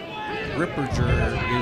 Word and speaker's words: Ripperger: As I hear the Richmond announcers, Ripperger is how you say his name.